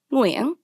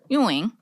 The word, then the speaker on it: Nguyen: Okay, so Nguyen is a Vietnamese last name, which means the correct way to pronounce it is in the language of Vietnamese, which is a tonal language, and that would be Nguyen. Nguyen. Nguyen. It's in the back of your throat.